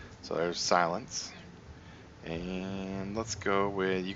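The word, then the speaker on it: SiL3X: We're gonna go ahead and name him Silence, which is how you spell it, S lowercase I L 3 and X. So there's Silence.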